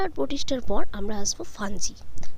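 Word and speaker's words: Fungi: মনেরা আর প্রোটিস্টার পর আমরা আসবো ফাঞ্জি, যাকে ইংলিশে উচ্চারণ করা হয় ফাঙ্গি বা ফাঙ্গাস, অর্থাৎ ছত্রাক।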